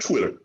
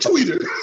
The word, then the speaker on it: Twitter: Now, as y'all can see there, I didn't even know how to pronounce the word Twitter. I was calling it Tweeter.